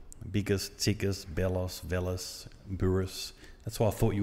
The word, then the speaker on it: Bouris: so from Petes to buris yeah wow and because it doesn't sound like a it sounds a little bit Baltic Boris like how you spell it well it's two syllable so up north where